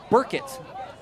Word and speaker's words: Burkett: It is Langston Burkett. I even wrote the pronunciation myself on my guide.